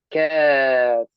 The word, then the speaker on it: كاف: لا ننطق الفاء في قاف وكاف، يعني الفاء وكأنها يعني محتشمة. لا نقول كاف، يعني فاء ضعيفة جدا. نضغط على الفاء جيدا لأنها فيها همس. فنقول قاف كاف كاف.